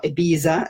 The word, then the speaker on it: Ibiza: and I've been clubbing in Ibiza or Ibiza as the Americans say I've been clubbing all